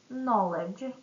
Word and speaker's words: knowledge: Silent key. No knowledge.